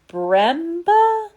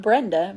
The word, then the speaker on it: Bremba: Her spirit guide's name was Bremba? Bremba, not Brenda, Bremba. Note that the sound contains Bram and ER, the first name of Bram Stoker and the last syllable.